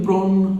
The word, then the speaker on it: prennent: Je prends, tu prends, il prend, elle prend, nous prenons, vous prenez, ils prennent, elles prennent. ENT will be silent the same as everywhere. Ils prennent and elles prennent.